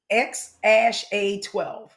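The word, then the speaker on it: X Æ A-12: And the name is actually pronounced X ash A12.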